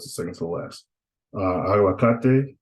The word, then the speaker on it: aguacate: Aguacate, that's three syllables. So the emphasis is going to be on ka, right?